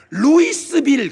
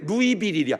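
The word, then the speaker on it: Louisville: 루이스빌 그래, 루이빌이야. 왜 스자를 읽는데 안 넣어?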